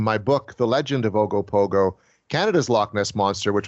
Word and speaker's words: Ogopogo: Am I Yeah, pronouncing? Ogopogo.